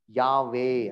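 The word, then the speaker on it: Yahweh: ಅಲ್ಲಿ ಏನಪ್ಪಾ ಮಾಡಿದ್ರು ಅಂತಂದ್ರೆ ಇದನ್ನ AE ಅಂತ ವಾರ್ತೆಗಳು ಸೆಂಟ್ರಲ್ ಸೇರಿಸು. ಹೆಂಗೆ ವೈ ಅಂತಿತ್ತಲ್ಲ, ಆಮೇಲೆ ಎ ಅಂತ ಸೇರಿಸು ಸೆಂಟ್ರಲ್, ಆಮೇಲೆ HWE ಅಂತ ಸೇರಿಸು, ಆಮೇಲೆ ಹೆಚ್ ಅಂತ. ಅವಾಗ ಹೆಂಗಾಯ್ತು, ಯಾವೇ ಅಂತ ಆಯ್ತು.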